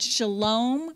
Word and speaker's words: shalom: i just remember that you said shalom rhymes with home oh yeah and what